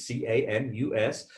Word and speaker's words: Camus: Not to be mistaken, if you ever see the spelling of Camus, it's C-A-M-U-S, sometimes confused with Camus of the Napa Valley fame, but this is pronounced Camus, and it is the House of Cognac.